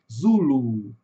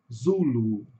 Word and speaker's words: Zulu: No inglês, a sílaba tônica está no começo, zulu. Zulu.